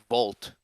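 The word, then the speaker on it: Wolt: The equivalent pope here would be called, I think, in Germany is called Vault, which is spelled W O L T, which is basically just like Deliveroo, Uber Eats.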